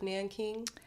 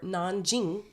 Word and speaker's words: Nanjing: or The Rape of Nanking no okay absolutely not perfect you would be a half expert I'm excited and also kind of terrified so Nanking or nan Jing is how it's pronounced now is the it